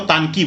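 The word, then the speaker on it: Intanki: अब ये इसको आई एम साइलेंट हो जाता है। इसको तानकी बोलते हैं।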